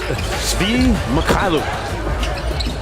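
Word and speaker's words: Svi Mykhailiuk: It's pronounced Svi Mikhailuk.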